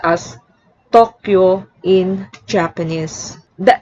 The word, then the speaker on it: Tokyo: in english but toyota the y can also act as a glide thus tokyo which is often pronounced tokyo in english is actually pronounced as tokyo in japanese the n